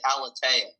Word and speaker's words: Aleteia: I pronounce it Aleteia.